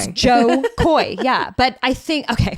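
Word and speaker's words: Jo Koy: his name sometimes just I think it's John and it's not John it's Joe Joe Joe Koy yeah but I think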